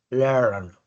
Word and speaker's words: learn: Y después de ese iato está la R, que no es la misma R que hacemos nosotros los latinos. Recuerde que esa R es curvando la lengua no hacia arriba, sino hacia abajo. Learn, learn. Si usted la hace hacia arriba, learn, learn, le suena distinto. Tiene que curvar la lengua hacia abajo para que le suene esa r.